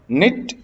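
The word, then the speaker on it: knit: Kidnap, kidnapped, kidnapped, निट, निटेड, निटेड, ध्यान रखिएगा निट में जो के है वो साइलेंट रहा करता है।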